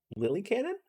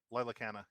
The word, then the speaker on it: Lila Canna: You know Lily Cannon? Lily Cannon? Lila Canna, yeah. Lila Cannon. That's how you pronounce that.